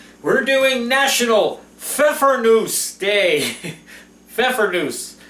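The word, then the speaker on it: Pfeffernüsse: Pfeffernusse. You pronounce it like you do Pfeffer.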